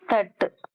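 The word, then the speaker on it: तट: அடுத்தது தட்டு. ஆனா சேட்டா போட்டு சீட்டா போட்டிருக்கு. எப்படி வாசிக்கணும்? இட். தட சொல்லக்கூடாது, தட். தட்டு தான் கரெக்ட்.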